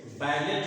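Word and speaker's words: ballet: या French origin जैसे बैलेट है जिसको आप अभी अभी इसका यूज करोगे बैलेट का उच्चारण बैले होता है बैलेट का उच्चारण पैले होता है और ट का उच्चारण नहीं होता बैलेट जिसको यूज करने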